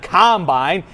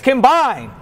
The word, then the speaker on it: combine: It's not combine, it's combine. A combine, you see, I looked this up. A combine is a farming machine.